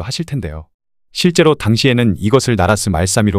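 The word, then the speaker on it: 나랏말싸미: 보는 것 같기도 하실 텐데요 실제로 당시에는 이것을 나라스 말사미 발음했다 합니다 왜 그렇게 발음했던 것일까요 그 이유는 바로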